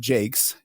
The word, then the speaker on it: Jaques: her contemporaries in a few different ways, including Jake's. J A ke, which is for me the easiest to pronounce.